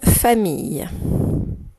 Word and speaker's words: famille: Écris-moi une famille. Une famille, une mot de la tortue, famille de syllabes, fa, et mi, le son I, qui s'écrit I-L-L, comme dans gorille, et on n'oublie pas le E à la fin.